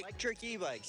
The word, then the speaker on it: Lectric eBikes: Um, now make sure I say electric ebikes. Did I say it right? Electric ebikes. Yeah, there it is.